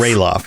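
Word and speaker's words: Ralof: also it looks like i'm always used to just roloff but it looks like uh chad's saying that it's pronounced ray lost rayloff yeah see all the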